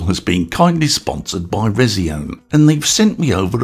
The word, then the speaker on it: Resione: Now, I've heard this brand pronounced a few different ways, such as resi1, resion, and even resign if you want a little French flare. Personally, I'll be sticking with resion as it feels right to me. Plus, it'll give the pronunciation police something to argue about.